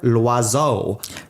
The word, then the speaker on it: Loiseau: And the last one I have here is that Gusteau was taken like as inspiration from Bernard Loiseau. L'oiseau? Loiseau. L'oiseau. Which means bird.